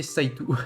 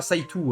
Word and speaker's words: Saito: À chaque fois, ça me fait trigger, tu dis Saito alors que c'est Saitou. Hello. Et oui, non, on prononce Saito, on prononce à la japonaise, Aksu. Hein. On prononce pas Saitou, hein.